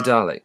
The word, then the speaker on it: Dalek: Oh God, did I pronounce it with an R? Dalek.